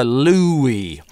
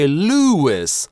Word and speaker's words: Louis: Louis - это имя может звучать двояко. Если речь идёт о французских королях, обычно это Lew-ee, а британец может зваться как Lew-ee, так Lew-iss, с [s] на конце. Вы не можете знать это, кроме как напрямую у этого человека спросить, как его зовут.